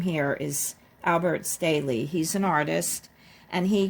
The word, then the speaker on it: Albert Staehle: Okay, Mike says this name here is Albert Staehle.